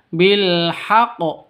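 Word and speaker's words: بالحق: Jadi cara bacanya bilhaq seperti itu. Bukan dibaca bilhaq ya bukan seperti itu. Tapi bilhaq.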